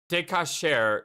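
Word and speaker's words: decoction: Decacher is the pronunciation.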